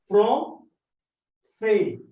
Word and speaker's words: français: So the pronunciation of C is say, but when we put this accent, it becomes so.